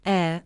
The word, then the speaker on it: heir: The letter H is silent in honor, honorable, honest, hour, hourly, heir, and heiress. The letter T is silent in whistle, castle, listen, fasten, soften, and Christmas.